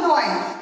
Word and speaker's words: gnawing: They grind that, and that is called gnawing. Here G-N-A-W-R-N-G, it is not G. G is silent here.